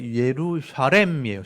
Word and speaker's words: 예루살렘: 예루살렘 성. 예루살렘이란 말도 제가 보여드릴 텐데 원래 예루샤렘이에요. 샤렘인데 우리 발음이 이제 샬렘 이렇게 샬롬에서 온 말이에요.